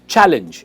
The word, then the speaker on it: challenge: जो first stress है जो फर्स्ट पार्ट पे आता है, इट इज चैलेंज एंड नॉट चैलेंज. चैलेंज गलत प्रोनाउंसिएशन है.